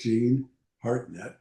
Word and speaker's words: Jean Hartnett: This is Jean Hartnett. Did I pronounce it right, Jean?